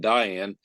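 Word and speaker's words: Diane Arbus: has a display of and I will pronounce it Dean Arbus because I've heard deian and Diane but deian Arbus photographed what people would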